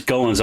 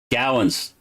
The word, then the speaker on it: Gowens: And I've been pronouncing your last name as Goins all night long. How close am I? Gowens. I should have known that.